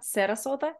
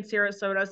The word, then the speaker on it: Sarasota: on Vegan Fest in Sarasota Sarasota that's how you say it I believe really oh my